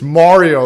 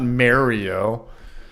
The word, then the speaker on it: Mario: It's Mario, like Lemieux. Shout out to Jason for getting it right. It's not Mario.